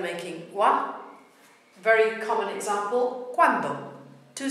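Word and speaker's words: cuando: Very common example, quando. Two syllable word, quando.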